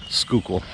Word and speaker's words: Schuylkill: uh on the screen it doesn't sound like anything like it's spelled school i think that's how the locals say it so the schuylkill rivers